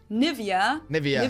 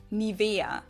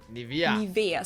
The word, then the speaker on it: Nivea: English native speakers usually say Nivea. Yeah, okay. In German, we say Nivea. Nivea. So the emphasis is on the E.